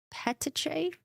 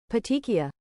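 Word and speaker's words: petechiae: Terowitz stated that Dawson had signs of strangulation particularly I don't pronounce that word petiche petiche ediche petiki eye patiki eye patiki eye particularly petiki eye on the side of his face. Petiki. Petikia.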